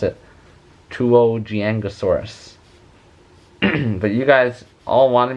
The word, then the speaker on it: Tuojiangosaurus: i actually have to look up how to pronounce it tuogiangosaurus but you guys all wanted me to draw